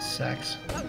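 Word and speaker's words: CeX: more time it is it is spelled c-e-x and everyone calls it sex oh yes that's like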